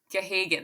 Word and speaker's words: Gahagan: And the actress who's in She, which is, oh my gosh, her last name is a bunch of G's. Helen Gahagan. Gahagan, that's what it is. I can never say it right.